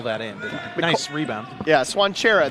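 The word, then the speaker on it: Cvancara: Yeah, Swanchera. That's how you pronounce that thing that is spelled C-V-A-N-C-A-R-A. Swanchera.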